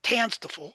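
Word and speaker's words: TANSTAAFL: TANSTFL, it's pronounced, stands for there ain't no such thing as a free lunch.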